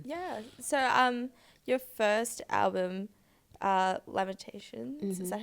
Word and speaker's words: Lamentations: So your first album, Lamentations, is that how you pronounce it? Lamentations.